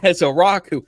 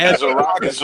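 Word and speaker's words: Ezeiruaku: out of BC and as a Rocku, no one can say his name correctly apparently on national media. like as as a as a as a rockus or something. It's as a rocku and y'all took my 44.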